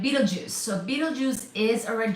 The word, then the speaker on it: Betelgeuse: Please do check my spelling, but it's not beetle juice like the fruit juice type of spelling, right? Betelgeuse.